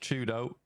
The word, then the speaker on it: 4YDO: For Twisted Minds, if you weren't aware, 4YDO is pronounced Chudo. So if you hear me talk about Chudo, it's that guy.